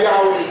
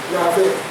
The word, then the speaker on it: Yahweh: Let me pronounce it, watch. Yahweh. I say the V. Now I say the W. Yahweh.